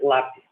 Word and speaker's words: lápis: Deixa eu ver, lápis, por exemplo. Lápis em português, a sílaba tônica está no lá.